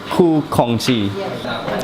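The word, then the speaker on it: Khoo Kongsi: Ku Kongxi.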